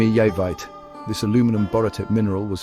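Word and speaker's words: Jeremejevite: Pronounced yermeite.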